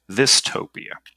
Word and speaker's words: Thistopia: I was driving around in the rain, and it was just like, Thistopia. And my first thought was, that's dumb. It rhymes with dystopia.